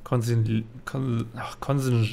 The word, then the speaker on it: consigliere: Das wird Consigliere ausgesprochen. Genau. Genau. Es wird Consigliere ausgesprochen. Eindeutig.